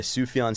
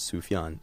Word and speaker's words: Sufjan: For me personally, the song 4th of July by Sufjan Stevens is the only song I've ever listened to that almost really, really got me to that point of tears.